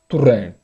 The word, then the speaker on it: Torrent: A gente vai acabar falando Domenech, mais ou menos, como tem falado na televisão, Domenech, Turren ou Torren. Enfim, você já sabe como que fala, Domenech, Turren.